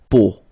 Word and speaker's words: peau: But then, so the sound that you will have to pronounce when you've got these three vowels combined together, it's the sound O. Okay, so really simple O.